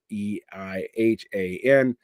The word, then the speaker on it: Zeihan: That's Zeihan. Uh, looks like Zihan, pronounced like Zion.